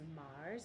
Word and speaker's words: Magrs: last name is pronounced Mars. I think he said you don't say the G, but his last name is spelled Magrs.